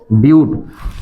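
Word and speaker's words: but: को क्या कहते हैं ब्यूट ना पढ़ते ब्यूट स्पेलिंग बट जैसे दिख रहा है ना कि ब्यूटी बट दिख रहा है ये ठीक लेकिन है वो ब्यूट ठीक है अब बॉन्ड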